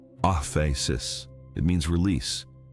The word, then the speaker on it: aphesis: There is a Greek word for forgiveness found throughout the New Testament, aphesis, pronounced off a sis.